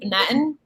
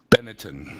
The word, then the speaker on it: Benetton: it's how do you how do you pronounce it Benetton Benetton Paddington like the bear they did sponsor F1